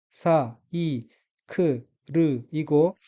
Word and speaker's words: サイクル: 다음 카다카나 단어의 철자를 하나씩 읽어 보면 사이 크르이고 따라서 단어 전체는 사이크르라고 읽으며 첫째 음절 싸의 엑센트가 있고 사이크르는 자전거란 뜻입니다.